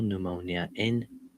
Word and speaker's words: pneumonia: And I don't know how to spell pneumonia. P8. No. Wow. Pneumon. MON. No way. I don't know how to spell that. I'm sure the P is silent, so that's out of the question.